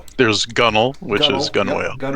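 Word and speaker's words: gunwale: There's also for castle, which is pronounced folks. Uh, so I crazy stuff. So there's gunnel which is gun whale.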